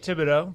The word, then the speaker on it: Thibodeau: Yeah, Thibodeau. Thibodeau. H is silent.